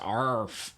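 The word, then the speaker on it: AAARTH: came out with their fourth studio album called AR. I'm pronouncing it the best way I can. It's actually spelled A A R G H, but it's pronounced ARF, and it's it kind of means bear in Welsh.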